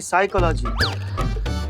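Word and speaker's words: psychology: करते पिसाई का लागी साइकोलॉजी नहीं साइकोलॉजी प साइलेंट होता है तुम हो जाओ साइलेंट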